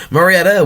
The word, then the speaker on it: Murrieta: to 5 we have Marietta out of our Murrieta um Murrieta we have Mariette over here in California too